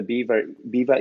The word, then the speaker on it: Biewer: how I do the how I tip the Biewer ears. And that's how you pronounce the name of this breed.